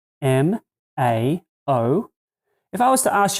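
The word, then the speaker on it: 猫: of it that's actually the chinese symbol for cat and it's pronounced mao what if i was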